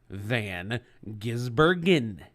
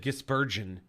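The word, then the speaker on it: van Gisbergen: name you say SVG I know how to say his name though it's Shane Van gizbergen now you said gispersion whatever dude what else there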